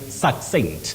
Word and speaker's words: succinct: is concise that is succinct a succinct explanation that was given during the session sacent interesting I would have probably said sent got you really suent that is understood Betty